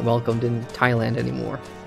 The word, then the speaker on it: Thailand: especially with teenage like I I pronounced Thailand as Thailand with it with the H in there and it's supposed to be a silent H so I just pissed